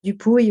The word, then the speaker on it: Dupouy: effectivement je m'appelle dupouille oui désolé la prononciation c'est du Pouille c'est un nom Landé hein voilà je suis